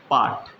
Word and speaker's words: pot: हैं, जिसे देखिए POT, पाठ। पोट नहीं पढ़ते हैं, पाठ पढ़ते हैं, माने यहाँ पे आ का उच्चारण आ रहा है ना।